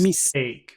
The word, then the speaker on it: mistake: Mistake. Mistake. Where's the big sound in that? Mistake. Take. Take. Take.